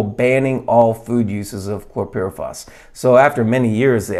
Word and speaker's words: chlorpyrifos: toxin and so in this article it's about chlorpyrifos that's how you pronounce it and so some of these uh